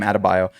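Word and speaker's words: Adebayo: Even with Tyler Herro coming back and he had an incredible game last night and Bam Adabio. Bam Adabio.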